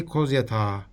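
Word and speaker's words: Kozyatağı: There is no I pronounced at the end. They all say Kozyata.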